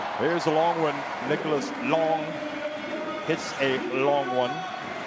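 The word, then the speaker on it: Lang: the long one nicholas long hits a long one long l-a-n-g hits a l-o-n-g one if indeed i pronounced that right here is nicole saving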